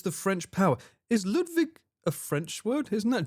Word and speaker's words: Ludwig: I'm pretty sure Ludwig is it not a German name, Ludwig? Because you pronounce the W with a V, right?